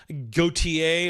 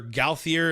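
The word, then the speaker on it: Gauthier: a little bit uh Austin gotier or gaer if you want to say it wrong uh and the other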